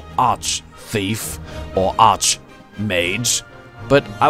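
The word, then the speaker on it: Arch-Thief: it should be pronounced arc thief and arc make an arc bishop but it's there's an H in here it's not arc its arch so not you anyhow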